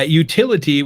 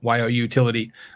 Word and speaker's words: Youtility: Yeah, utility, which is spelled YOUTILITY, utility, is creating marketing that is so useful, people would pay for it.